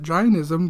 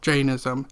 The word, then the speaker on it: Jainism: So, Janism is a religion I have been mispronouncing since I learned of it. I called it Ginism because that's how I remember my professor saying it, but it is actually Janism.